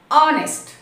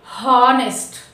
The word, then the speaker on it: honest: We should not pronounce it's ఆనెస్ట్, నాట్ హానెస్ట్. ఓకేనా? సో we have to pronounce it యాజ్ ఆనెస్ట్.